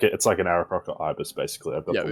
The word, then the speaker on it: Aarakocra: Is that how you pronounce it? Yeah, Aarakocra.